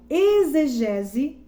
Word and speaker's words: exegese: Então, da etimologia da palavra exegese, ela se escreve assim, é com X, exegese, mas pronuncia com Z.